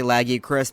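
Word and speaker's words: Lagiacrus: the first time to legacy Chris, however you pronounce it. I usually say Lagia Chris, but most people say Legac.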